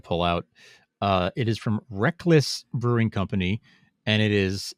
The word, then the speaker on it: Reklis: Rek-Lis is spelled Reklis.